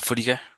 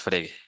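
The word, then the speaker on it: Frege: se llama Gotlof, eh, de repente lo pronuncian como Friger, pero pues aquí para nosotros es Fregue, este autor Fregue, este fue muy sonado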